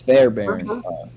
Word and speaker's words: Fairbairn: At number 4, we have, how do you say that? Is it It's Fairbairn.